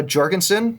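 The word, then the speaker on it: Jorgenson: We had Matteo Jorgensen, that's with a J. There's video of him saying it when he's like 12, so I'm going to say that's how you say it.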